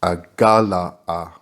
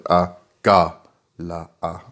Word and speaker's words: Agala'a: As mentioned elsewhere, in this instance the divine name is vocalized Agala'a, taking care to place a strong emphasis on the second syllable, that is the Ga. The name should sound Agala'a. So you need to emphasize the Ga. So it's Agala'a.